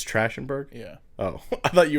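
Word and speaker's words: Trachtenberg: yeah I want director okay I might not pronounce this right but Dan thren Berg trash andberg it's actually it's trash andberg yeah Oh I thought you were saying like he was a bad director no tratenberg um he did I know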